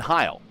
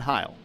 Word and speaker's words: Heil: It's Heil. Heil. So High L. Yeah, High L is what I was told how to say his name.